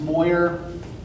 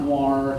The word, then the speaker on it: Moyer: Okay, so for those of you who don't know me, which is you, my name is pronounced Moyer, right? Not Moir, not Moore, it's Moyer.